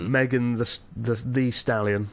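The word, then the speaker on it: Megan Thee Stallion: Megan the Stallion, is that how you pronounce it?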